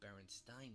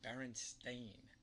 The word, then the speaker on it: Berenstain: sound Steen or Stein both would be how Baron Stein might be pronounced not Berenstain that's a fair argument you're right I'll admit that even now the correct pronunciation Berenstain sounds crazy the thing is we're talking about